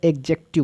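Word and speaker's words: adjective: एडजेक्टिव में डी आपका silent रहेगा, एडजेक्टिव बोलेंगे।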